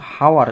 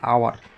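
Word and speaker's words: hour: আমরা কিন্তু হাওয়ার এরকম বলছি না, আমরা কি বলছি? আওয়ার।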